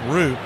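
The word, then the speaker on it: Roupp: Landon RP the pitcher spelled R O U P P he pronounces it RP the 01 misses high one and one righty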